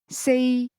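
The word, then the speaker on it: 四: The only difference in this case is that four is pronounced with a mid-level tone.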